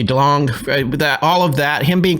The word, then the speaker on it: DeLonge: And then there was the whole part with Tom DeLonge, how do you say his last name? But with a G, I do the hard G. Yeah. Hard G DeLonge, all of that, him